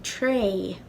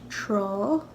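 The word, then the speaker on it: trá: More than likely, in Ulster, they'll say an tray, as if this is spelled T-R-A-I-G-H. And that actually is an alternate word for beach. So I think some people in Ulster will pronounce this tra, and some will pronounce it tray. Now, in Connacht, this will be pronounced troll.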